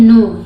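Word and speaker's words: know: रहता है ठीक है के के बाद अगर एन लगा हो तो वहां पे के साइलेंट रहता है एन से पढ़ा जाता है इसलिए इसको पढ़ते हैं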